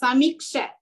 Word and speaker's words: समीक्ष्य: This is अ compound letter with half of ksha and vya, so you have to pronounce it iksha. How to pronounce this, sir? Samiksha.